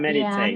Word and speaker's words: meditate: How about Yeah, meditate? meditate to think about deeply and quietly reflect upon Ah, and plan intent. yes. Repeat after me. Meditate. Meditate. Yes, rest on the first syllable.